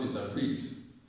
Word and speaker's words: interpret: Then this one, not interpret. Can you interpret that dream? Can you interpret? You're stressing print. Interpret. The stress is on top.